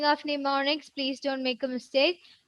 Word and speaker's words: mnemonics: And the spelling of mnemonics, please don't make a mistake. Mnemonics. Mnemonics. M is silent there.